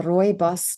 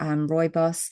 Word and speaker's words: rooibos: Uh rooibos tea, that's how the South Africans pronounce it or rooibos or otherwise also known as red bush.